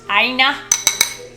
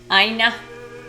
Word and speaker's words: Ina: Today I learned Ina is pronounced Ina. Ina.